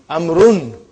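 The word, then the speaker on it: عمرو: Why do you have extra vav? It is not read. It is not pronounced. It is only written. Why? Just to differentiate between these two. Actually it is amrun.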